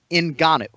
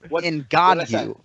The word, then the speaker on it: Ngannou: It's 3 syllables, right? Ngannou. I think for purposes of this show, that's one that you've got to figure out a way to get right.